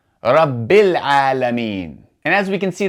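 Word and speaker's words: رب العالمين: However, if we continue, we do not say rabbi al-alameen, but rather we do not pronounce that hamza. We go straight from the ba kasra to the lam. rabbil alameen.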